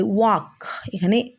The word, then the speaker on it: walk: বলে আই ওয়াক। ওখানে work উচ্চারণ হলো, এখানে ওয়াক। WALK, এলের উচ্চারণ হবে না, কিন্তু বানানোর সময় এল থাকবে।